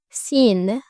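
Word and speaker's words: سين: Sin. Sin. Sin. Good. Let's learn how to pronounce scene with short and long vowels and double vowels and some Arabic words.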